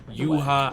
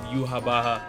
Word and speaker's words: Yhwach: Now I've seen multiple different pronunciations for this character. I've seen Yhwach, I've seen Yhwach, I've seen Yhwach, I've seen Yhwach, I've seen so many pronunciations. I'm just gonna go with the Japanese pronunciation so far of Yhwach, and we can go from there.